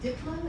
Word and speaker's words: Diplo: And Diplo, is that how you pronounce it? Diplo, yeah.